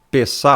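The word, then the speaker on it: פסח: Páscoa aqui, meu irmão, no hebraico, né? Seria peçá. Alguns pronunciam peixa.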